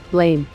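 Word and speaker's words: Blame!: Donald McClintock number 14 blame here's one for you animation lovers based on the manga of the same name pronounced blam the animation action drama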